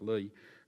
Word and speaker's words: Li: But there's a High Court decision in 2013 in a case called, it's spelled L-I, but I understand it's pronounced Lee, seems to have opened up that ground of review to a considerable degree and relaxed perhaps its rigour.